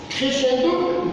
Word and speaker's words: crescendo: Crescendo, décrescendo. Et ça s'écrit ainsi. Crescendo. Le SC se prononce sur crescendo et le contraire, décrescendo.